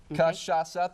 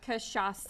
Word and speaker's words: cachaça: Cachaca, 3 syllables. Cachaca.